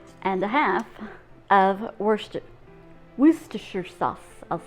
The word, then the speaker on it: Worcestershire: then a teaspoon and a half of worcester worcestershire sauce i'll say it properly i'm going to